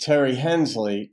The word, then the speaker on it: Tari Hensley: And that's how you said it's pronounced, pronounced Terry Hensley, titled I'm the one who's breaking up.